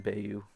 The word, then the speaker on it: Bo: that's what i'm calling him i know it's pronounced bo but i'm going to call him bayou because it's funnier that way uh i should